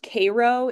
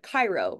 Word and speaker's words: Cairo: The spot that is closest, the town, to the central point of this X is called, it's called, pronounced Cairo in Illinois, but Cairo, right?